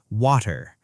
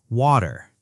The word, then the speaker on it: water: British English keeps the T sound sharper. Water. Clear T. Americans soften it. Water.